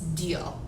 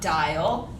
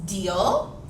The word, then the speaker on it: Diehl: you first of all my name is miss deal i know it's spelled raw kind of weird it is no not miss die no not dial yes deal and someday i will